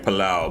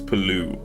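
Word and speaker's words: Palau: island nation of pooo I've been saying palao but it's pooo that's how you pronounce it um 420 how am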